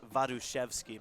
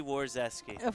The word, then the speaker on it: Warazeski: In the Polish pronunciation, it's vadvki, but I don't I don't make a lot of people say that. Too much work. So, just easy war zeski.